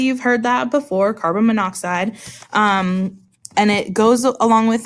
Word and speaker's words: monoxide: oxygen is spelled oxide so if we put those together it should be mono oxide but that's not what you said out loud right a minute ago you said carbon monoxide not carbon mono oxide